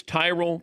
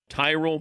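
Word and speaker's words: Tyrol: It's Tyrroll pickleball shoes. You spell it T Y R O L. Tyrell Pickle Ball Shoes.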